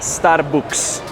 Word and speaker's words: Starbucks: Entonces se dice Starbucks en lugar de es Starbucks.